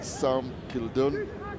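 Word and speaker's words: Sam Kildunne: it or not join me the commentary is Sam Kildon. Did I get that pronunciation right?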